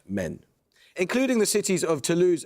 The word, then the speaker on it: Maine: The French departement is pronounced "Men."